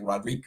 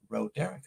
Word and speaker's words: Roderica: we appreciate Roderica, and that's her name, Roderica. She sold me her name because I always say Ro, and because I didn't know if I didn't want to mispronounce. I thought it was like Rodrika or something like that. But she's like, it's Roderica.